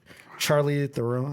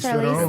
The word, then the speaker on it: Charlize Theron: Charlie Theron. I always forget how to pronounce her last name. Charlize Charlize Theron.